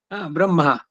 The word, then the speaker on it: ಬ್ರಹ್ಮ: ಬಂದಿದ್ ತಕ್ಷಣ ಮಹಾಪ್ರಾಣ ಬರಬಾರದು ಈಗ ಬ್ರಹ್ಮ ಅನ್ನೋದು ಬ್ರಾ ಮಹಾಪ್ರಾಣ ಅಲ್ಲ ಬ್ರಹ್ಮ ಬ್ರಹ್ಮ ಉದಾತಕ್ಕೆ ಬಂದಿರಬಹುದು ಅಲ್ಲಿ ಆದರೆ ಹೇಳಬೇಕಾದರೆ ಉಚ್ಚಾರಣೆಯಲ್ಲಿ ಮಹಾಪ್ರಾಣ ಬರಬಾರದು ಇದೇನೆ ಫುಲ್ ಕಂಟ್ರೋಲ್ ಓವರ್